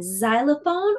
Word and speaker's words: xylophone: beginning of some words can say Z as in xylophone or X as in x-ray but today let's focus